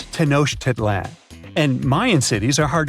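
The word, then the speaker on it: Tenochtitlan: It's Tenosh Titlan. And Mayan cities are hard to pronounce, too.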